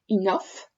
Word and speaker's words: enough: Le GH, vous voyez qu'il n'y a rien de terrible, ça se prononce comme un F. Enough.